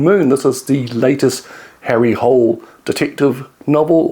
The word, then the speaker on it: Harry Hole: This is the latest Harry Hole detective novel, or Ari Ole, I think is the correct pronunciation of his name.